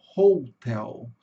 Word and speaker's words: hotel: Em inglês vai ficar hotel. Hotel, tá, pessoal? O H em inglês, ele tem um som do R médio. Eu chamo de R médio porque é o R mais comum aqui na língua portuguesa.